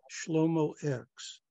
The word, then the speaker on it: Shlomo X: And for those people that cannot pronounce it, it is Shlomo X.